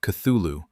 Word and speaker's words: Cthulhu: To the east of the heart lies its opposite, Cthulu Reio, pronounced Cthulhu, a long, dark, ragged strip of terrain that hugs Pluto's equator for almost 3,000 km.